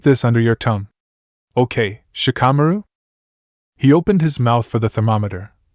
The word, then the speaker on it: Shikamaru: Most people say my name in Dupards. They drag idu do. Shikamaru. Shikamaru. Gu donned. Gu say id as one werda."